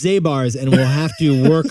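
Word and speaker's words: Zabar's: institution what's the one called like zabirs on the upper west it's zabars and we'll have to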